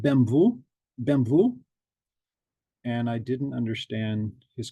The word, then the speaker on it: BMW: it out and I realized that BMW is pronounced differently in uh in Polish bvu bvu he was asking um